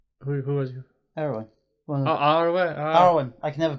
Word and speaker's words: Arwen: Erwin, the one's with Aragorn. You Yeah. think he's on about Eowyn? Who was you? Erwin. Oh, Arwen.